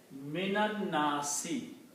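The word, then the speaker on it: مِنَ النَّاسِ: So the word becomes minan nasi. Okay? And when you read these together, you do not read min and an-nasi, but you combine this noon with this noon, and you pronounce mi nan nasi.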